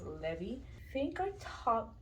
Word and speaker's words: Levi: I think you would write it the same, but it would be either Levi or Levi. And I like it better when how it sounds in Spanish as Levi.